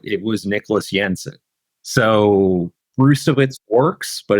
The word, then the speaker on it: Brzustewicz: So it's he's told people that it's Brustewicz, but sometimes with these